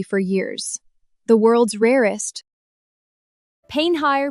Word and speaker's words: Painite: Mistaken for ruby for years, the world's rarest Painite, pronounced pay-night like you're saying the name of someone you just met.